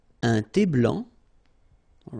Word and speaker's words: blanc: Un thé blanc, final C not pronounced.